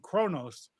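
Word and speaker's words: Qo'noS: the Klingan home world, I wasn't saying Kronos because they the English or sorry Galactic Standard would would pronounce it Kronos spelled K R N O S. But the planet's spelling is capital Q M O capital S.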